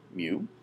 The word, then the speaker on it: mu: left you see the Greek letter me it's pronounced me uh it it is the Greek ancestor of